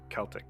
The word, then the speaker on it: Celtic: I feel like the only time I've ever heard the soft C for like Celtic is when you're talking about the basketball team in Boston. And otherwise it's supposed to be a hard C.